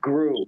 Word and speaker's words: Grew: pronounce that last name my last name is pronounced gru g-r-e-w yes sir okay very